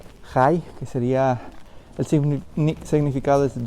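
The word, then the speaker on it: חי: Otra de las figuras es una palabra en hebreo que más o menos la pronunciación sería Jai, que sería el significado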